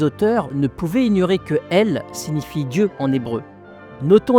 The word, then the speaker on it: El: la culture kryptonienne et qui en fait se prononce elle.